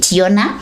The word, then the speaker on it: Jonna: Yeah, Yona. That's how she pronounced it, Yona.